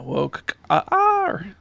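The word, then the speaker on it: Wokar: How would you pronounce that? Oh, yeah. Woke R.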